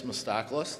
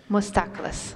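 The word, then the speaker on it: Moustacalis: My name is Mostakis. That's spelled. Last name, M-O-U-S-T-A-C-A-L-I-S. Mostakis.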